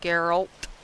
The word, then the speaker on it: Geralt: accent it make that what makes me go geralt oh like with a u instead of geralt